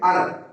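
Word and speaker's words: honour: ऑनर इसी तरीके का शब्द होता है, ऑनर, इसको हानर नहीं पढ़ेंगे, ऑनर।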